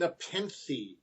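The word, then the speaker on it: nepenthe: a rest bit from hard work respit and nepen and yes that is how it's pronounced a npen is a tranquilizer sedative my research also says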